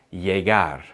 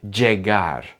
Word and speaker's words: llegar: Double L sounds like the letter Y in the word yes, but it's shorter and clearer. Llamar, llegar, rodilla, tobillo.